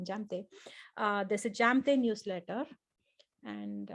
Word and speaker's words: Jamthe: Jamthe, as in my name, Jamthe. J in my name is not silent for those of you who are trying to pronounce it. I'm not Amte, I'm Jamthe.